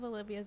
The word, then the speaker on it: Olivia: I know lots of Olivias with A's, though. It's Olivia, not Ah.